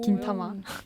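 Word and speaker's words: 銀魂: 긴타마. 네. 이게 일본 발음입니다.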